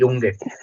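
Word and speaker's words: Junge: बस हमने जे की जगह यू वाई लगा दिया जब बेसिकली वोवल्स आता है, युंगे, ओके युंगे, यानी कि आप इसको ऐसे पढ़ोगे जैसे आप जुंगे ना पढ़ के युंगे पढ़ रहे हो, ठीक है।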